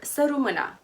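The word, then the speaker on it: Sărut mâna: of nostalgia and homesickness suut or suuma with a silent tea this one is a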